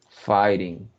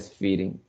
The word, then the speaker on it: fighting: So, in your pronunciation, this word is pronounced fighting. You said feeding. It's fight. Ah, fighting. Yeah, Okay. porque viene de fight.